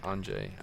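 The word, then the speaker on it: Anže: I have always favored the name Onks, pronounced Anjay. Oh, Anjay, yeah. Like Anjay Kopitar.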